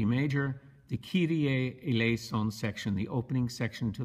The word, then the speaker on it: Kyrie Eleison: Kyrie Eleison. It's actually Greek.